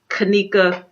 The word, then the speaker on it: Kenneka: And if you guys don't know what story I'm talking about Kenneka Jenkin.